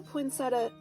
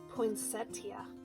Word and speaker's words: poinsettia: poinsetta and I did the poinsetta Poinsettia I always say it wrong I did a couple